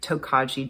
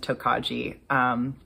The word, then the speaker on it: Tokaji: I saw a bunch of different pronunciations on Google, so I'm sticking with Tokaji. Yeah, I saw pronunciations like Tokoi and Tokai and Tokei, and I apologize to anyone and everyone for butchering that pronunciation.